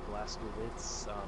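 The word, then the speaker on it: Blazkowicz: They pronounce his name different ways. Some of them be like Blaskowitz, some of them is Blaskowitz. Mm-hmm. I think the ones with the German accents, because Germans pronounce their W's as V's in most instances, and it's just like, it'd be Blaskowitz.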